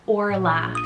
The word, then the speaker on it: Orla: i have the name orla spell o-r-l-a-i-t-h or o-r-l-a so both ways are pronounced the same and it's irish like i said originated